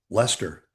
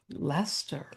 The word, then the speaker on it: Leicester: Lester. Lester, England.